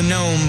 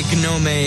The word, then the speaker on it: gnome: thing called the gnom actually it's just the gnome but you know I can say gome if I please there's no law against mispronouncing gnome right now the Misunderstood